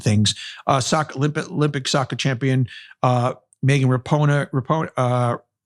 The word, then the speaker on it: Rapinoe: Olympic soccer champion Megan Rapinoe. It's Rapinoe. What am I talking about? Branca Chopper Jonas. I'm pronouncing all these names wrong.